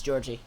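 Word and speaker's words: Djordje: Jordy. It's Georgie.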